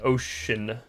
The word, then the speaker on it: ocean: can be like an S sound like an ocean or actually C has like three different ways you can pronounce it.